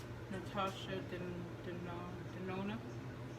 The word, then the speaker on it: Natasha Denona: So it's from this Natasha Donon. How do you say that, honey? Well, Natasha Denona.